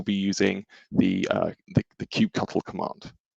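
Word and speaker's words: kubectl: using the uh the cubecuttle command now don't pick me up on the pronunciation there i know that there's different camps about that but cubecuttle is what i'm calling it today the uh it's basically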